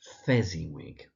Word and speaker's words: Fezziwig: Fezziwig.